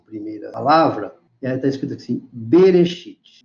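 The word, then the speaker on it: בְּרֵאשִׁית: Então aqui tem B, Resh, aqui esse Aleph não se pronuncia, aqui é o Shi, aqui é outra consoante que é o Yud e o Tav. Então, Bereshit. Bereshit significa no princípio.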